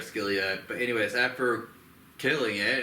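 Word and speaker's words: Scylla: spider thing called uh skilia I think that's how you say it name it's s c y l a yeah like Celia or skilia but anyways after killing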